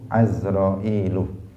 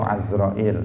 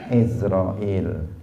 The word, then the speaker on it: Azrail: Tafsilu ashrin minhumu Jibrilu Mikalu Israfilu Azrailu. Harokat yang tepat itu Azrail, meskipun kita pada umumnya membacanya dengan Izrail. Jadi Azrail itu yang lebih pas.